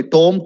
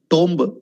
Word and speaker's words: tomb: is again very important you all say tom tom tomb okay taj mahal is a tom yeah it's wrong it's tomb t-o-o-m he buried him wrong